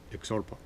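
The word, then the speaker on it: iktsuarpok: p p-o-k i-k-t-s u-a-r-p-o-k the best that i can do with that is xorpak and i think that's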